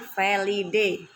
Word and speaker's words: felidae: pada famili felidae felidae ya tulisannya felidae Tapi bacanya felidae misalnya famili felidae itu